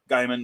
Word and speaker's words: Gaiman: because i love neil gaiman guymon rather because that's how he pronounces it and there's been a